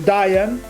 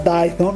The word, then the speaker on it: Dayton: Wright, che per le altre cose sono giusto del North Carolina, per cui Di Diane, no Dayton, ma hanno detto non si pronuncia Dayton, è Diane.